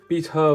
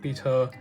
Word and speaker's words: pita: Shawarma, like arayas versus arayas, pita versus pita, like, you know, obviously in English you pronounce it pita, like pita bread. But you know, in my family we've always called it pita.